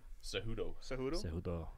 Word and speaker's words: Cejudo: Cejudo.